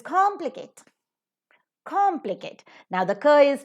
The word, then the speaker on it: complicate: the examples now the very first word c-o-m-p-l-i-c-a-t complicate right complicate polysyllabic word it is three syllables are there tricyllabic word it is more